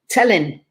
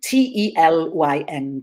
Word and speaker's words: Telyn: Telyn. Telyn. Telyn. T-E-L-Y-N. Telyn. Yeah. Telyn. We don't know where there's a lovely little anecdote or explanation maybe of the name. Telyn doesn't seem to ring any names.